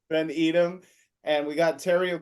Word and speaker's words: Haley Van Edom: Van Edom. Van Edom.